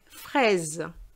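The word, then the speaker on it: fraise: jabit i live frey frese frey means fresh fresh and i say i actually pronounce the s is like a z it's a z sound between two vowels and it's strawberry which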